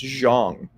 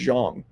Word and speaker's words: Zhang: yep big bong Jong his last name is pronounced Jang I don't know how they got Jiang but it's pronounced Jang in I guess manderin boxing in WWE that